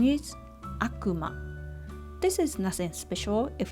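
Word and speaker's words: 悪魔: and here's the aggressive one the way of pronunciation is Akuma this is nothing special if it's not name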